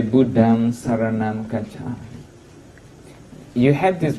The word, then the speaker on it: Buddham Saranam Gacchami: So instead of Buddham Dharanam Kisami, we usually say Buddham Saranam Gacchami.